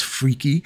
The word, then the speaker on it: Freki: right and he's and I looked it up how to say it and that's the way you say it in Gary and freaky so okay time for